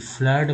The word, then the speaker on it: flood: अब बच्चा दोस्तों डबल वाला देखिए FLOOD फ्लड में डबल ओ का उच्चारण जो है आ के रूप में हुआ है फ्लड।